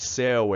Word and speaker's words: céu: Por que céu é aberto, seu é o som fechado, tá vendo? O que justifica esse acento aqui no céu? Só porque a pronúncia é aberta.